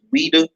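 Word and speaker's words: Ouidah: I think it's XWEIDA, and I think it's pronounced Ouida.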